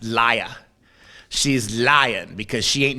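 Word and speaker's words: Lia: And I don't think it's Leah. I think it's pronounced Laya.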